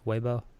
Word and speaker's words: Weibo: so I guess when you set up our Weibo account am i pronouncing it right Weibo yes fancy tong have you heard of it